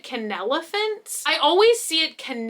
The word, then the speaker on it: Kenelephant: things from this brand i think you pronounce it can elephants i always see it